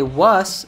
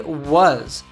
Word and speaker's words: was: Here, it's important you get the pronunciation of was right. So don't say was, say was.